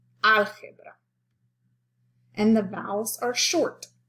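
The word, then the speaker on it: álgebra: short so to recap the natural stress in spanish is 90 of the time on the second to the last syllable enchilada unless specified algebra algebra and the vowels are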